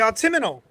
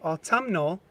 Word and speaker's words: Autumnal: The Autumnal, which I thought I was pronouncing it correctly when I said autumnal, because that's how it's spelled, autumnal. Apparently the correct pronunciation of this word is autumnal.